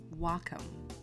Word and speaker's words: Wacom: though I have to say it right so Wacom Wacom stique learn something new every day so